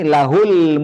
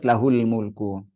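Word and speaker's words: له الملك: sebelumnya huruf sukun, nanti lahul mulku. Hak dhamirnya itu tidak boleh dibaca silah. Nah, nggak boleh dibaca lahu dan al mulku, tapi harus lahul mulku.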